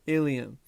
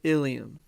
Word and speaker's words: ileum: to be considered the ileum. Now don't misspell ileum for ileum. They're pronounced the same, but remember, there's a